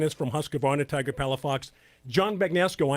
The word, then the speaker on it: Husqvarna: for them Dennis because Husqvarna is one of those words that should be the telling mixin sounds different right right yeah i mean i pronounce it Husqvarna if you're in sweden its Husqvarna so who's come on them exactly it's H us q VAR na and our websites Husqvarna